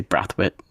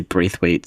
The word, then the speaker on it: Braithwaite: In Barbados, we would say Brathwaite, and then I've heard people say Braithwaite.